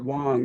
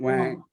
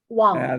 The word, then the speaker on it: Wang: You pronounce it Wang, not Wang. Yeah, Wang. That's the American way of saying it, probably.